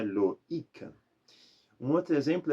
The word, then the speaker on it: Loïc: existe um nome masculino em francês que é Loïc. Loïc a gente coloca um trema justamente para não fazer um loac. Então é Loïc.